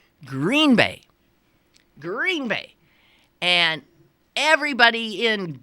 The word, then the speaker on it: Green Bay: If you're from that place, you say Green Bay. The idea being that the adjective green is not as important as the noun bay.